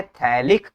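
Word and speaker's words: phthalic: अच्छा, बहुत बच्चे इसको समझ नहीं पाते हैं, PHTALIC, ये होता है थैलिक, PH होता है साइलेंट, तुम इसको पढ़ते हैं थैलिक, तो हो जाएगा थैलिक anhydride in the presence of AlCl3 catalyst, ठीक है।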